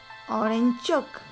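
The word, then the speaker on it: 오른쪽: study right right means orange chuck orange chuck it sounds like orange chalk right so you have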